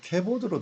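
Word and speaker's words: כבוד: 자, 우리 보면은 여기 좀 바룩 셴 카보드인데 발음상으로는 우리가 캐보드로 들려요. 그러니까 뭐 혼동을 하지 않도록 원래 글자로는 카보드로 쓰 있습니다. 그렇지만 부를 때는 주로 카와 에 사이에 캐보드 이렇게 캐보드 이런 식으로 들린다는 거 그것들만 한번 참고를 해주시면 좋겠습니다.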